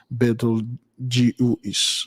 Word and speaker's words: Betelgeuse: It's not the Betelgeuse, but Betelgeuse, it's pronounced Betelgeuse.